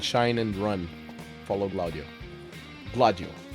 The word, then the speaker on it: Gladio: Gladio. I'm always saying Glaudio, but that's me just pronouncing it wrong.